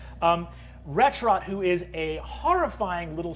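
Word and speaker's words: Wretchrot: five isn't there retro retrot yes for those at home ret rot is spelled w t c h r o t literally the words wretch and rot put together um retch rot who is a horrifying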